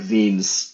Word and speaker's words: Wiens: Yeah, I think it's originally like Wiens, but like we've always pronounced it Wiens in my family and spelled it that way.